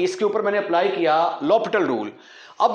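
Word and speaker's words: L'Hôpital: जो है उनके अंदर ल पिटल रूल इस्तेमाल होता है तो अप्लाई ल पिटल रूल स्पेलिंग लिखेंगे हॉस्पिटल एल हॉस्पिटल नहीं पढ़ना इसको लपट रूल पढ़ेंगे हम इसको ल पिटल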